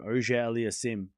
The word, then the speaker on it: Auger-Aliassime: How do you pronounce FAA's last name? Oja Aliasim.